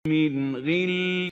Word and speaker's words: غل: The right way of pronouncing it is like this. من غل Min ghil. So we don't over-velarize or exaggerate the tafkhim of the ghain.